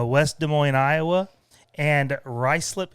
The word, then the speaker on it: Ruislip: West Des Moines, Iowa, and Ruislip, England, which is not the way that looks like it's spelled.